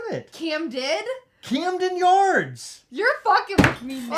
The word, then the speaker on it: Camden Yards: I said Camden Yards. You said I'm from Baltimore, Heather. Anyone who's from Baltimore doesn't pronounce it with a T.